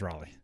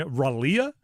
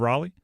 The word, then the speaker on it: Raleigh: Like the name L E I G H, which is the end of Raleigh, is Lee.